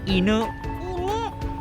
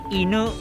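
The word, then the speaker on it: 犬: เดี๋ยว บอก ให้ หมา ภาษา ญี่ปุ่น ออก เสียง ว่า E 1 E นุ เอา ใหม่ อินุ อินุ โอเค เก่ง มาก เลย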